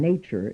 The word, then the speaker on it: nature: The letter T in nature is pronounced like CH.